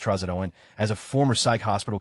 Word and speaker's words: trazodone: but in Silver Linings Playbook, the actors both pronounce the medication trazodone as trazodone, but every psych client I've seen all know it's pronounced trazodone.